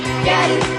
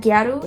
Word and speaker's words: Gyaru: So basically, the word Gyaru is the Japanese pronunciation of the word gal, used to refer to a young girl or woman.